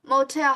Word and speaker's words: motel: So how about motel? How about Portuguese? You are Portuguese. Motel. Motel. Motel. Motel. Yes, the L is pronounced like a W in English. Motel.